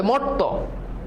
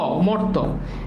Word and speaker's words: মর্ত: তোমাদের অনেক কনফিউশন আছে দেখো মর্ত এটার উচ্চারণ কি কখনো ম ঔকার দিয়ে করতে পারবা দেখো তুমি যদি ম ঔকার দাও তাহলে উচ্চারণ কি হবে মরত আচ্ছা বলতো উচ্চারণটা কি মরতো আমরা কি বলি যে মরত না তাহলে তো ওকার হচ্ছেই